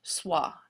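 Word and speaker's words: sois: so you're learning now it's pronounced SWA and if you're talking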